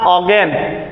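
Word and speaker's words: Ogden: ऑगन लिखा है ना तो यहां ऑगन डी साइलेंट ऑगन नेस क्लियर फिर अगला है फॉर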